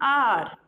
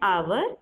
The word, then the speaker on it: hour: Okay, here your H is silent. So again same, an honor, an hour. Okay, an hour or an hour.